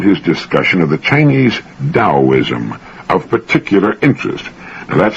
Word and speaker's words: Taoism: beneficial I found his discussion of the Chinese taoism of particular interest now that's spelled t-a-o-i-s-m and often mispronounced Teo is Taoism the Tao signifies the energy of the